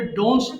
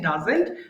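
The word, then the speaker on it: doesn't: খায় না very good একটা কমন মিস্টেক দেখব সেটা হচ্ছে আমরা অনেকে ভুল করে ডাজেন্ট উচ্চারণ করতে পারি না আমাদের ভুল করে ডোন্টস চলে আসে ডোন্টস হবে না কিন্তু হ্যাঁ ফাতেমা এরকম বলেছেন ডাজেন্ট সো we have to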